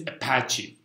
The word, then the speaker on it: Apache: for all configurations Apache correct pronunciation is Apache because it said it's a patchy server has nothing to do with the Apache clan it's about the patchable server so I will go